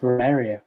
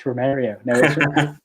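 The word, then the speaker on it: Romário: just i was like it's romeria it's romario i'm panicking joining in 1988 which was the first european club that brazil legend romario mario played for there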